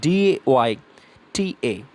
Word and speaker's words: data: The pronunciation is data, but not data or data. It's not data, it's data. So when you pronounce it data, the spelling comes like DAYTA.